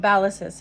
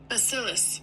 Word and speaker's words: Bacillus: and is soured by a specific ballist um ballist. I guess that's how you say it. Let me look for the proper pronunciation. There it is. Basilus. Basilus. It's way off, but I tried.